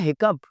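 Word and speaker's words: hiccup: हिकअप, हिचकी, बड़ा बहुत डिफरेंट लफ्ज़, हिचकी आती है ना, हिचकी लग जाती है, तो इसकी इंग्लिश है हिकअप, बिल्कुल जैसे कप। दो, अगरचे, दो, लाइक ओ इन गो, जैसे गो में आपकी आवाज़ आती है, थॉट।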